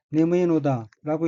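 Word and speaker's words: 眠いのだ: 다음 어귀는 한자가 잘면자이고 일본어로는 네무이노다라고 읽으며 네무이는 졸리다는 뜻의 해용사이고 네무이노다는 졸리는 것이다, 즉 졸린다라는 의미입니다.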